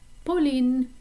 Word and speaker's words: Pauline: mentioned before with pamal the p at the beginning of pauline is a little bit softer so in english we would say pauline in french it's polin now it's your turn